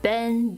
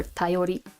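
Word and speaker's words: 便: This is facilities, post, mail, news, opportunity, ben, bin, or tayori.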